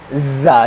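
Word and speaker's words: ز: Za, za, sticky, this is a hard letter, za.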